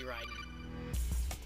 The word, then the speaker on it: Raiden: I want to see Raiden. Darn it. Close. By the way, yes, it is actually pronounced Raiden. A little off topic. But it is pronounced Raiden. Everyone in the game calls him Raiden.